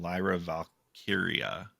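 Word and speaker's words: Lyra Valkyria: Liv Morgan and Raquel Rodriguez versus Bailey and Lyra Valkia.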